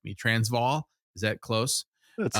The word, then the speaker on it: Transvaal: Transvaal, is that close?